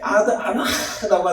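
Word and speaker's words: אנה: 이렇게 이게 아나라고 하는데요. 이게 바로 어느 때까지입니까? 라고 하는 히브리식 발음이면 아나 이렇게 기도해야 되는 거예요.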